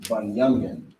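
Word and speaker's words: בִּנְיָמִין: If you could write the tribe of Benjamin, which in the Hebrew is pronounced Bunyamin.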